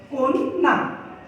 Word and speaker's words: কন্যা: পরে যে শব্দটি রয়েছে আমরা বলি যে কন্যা এই কন্যা শব্দের সঠিক উচ্চারণ হবে কন্যা কন না আজকে আমরা পাঁচটি